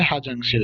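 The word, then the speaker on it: 화장실: তারপরে দেখেন হোয়াজাংশিল, আমরা জানি হোয়াজাংশিল, কিন্তু উচ্চারণ দ্রুত করার ক্ষেত্রে তারা হোয়াজাংশিল না বলে হাজাংশিল বলে।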